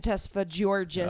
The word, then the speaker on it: Tesfagiorgis: Tesfagiorgis. Oh, thank you. No, Close. it's the hard G.